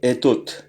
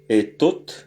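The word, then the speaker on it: этот: Donc etot, etot. Je vois que l'accent est sur le et donc le o se prononce comme un a faible.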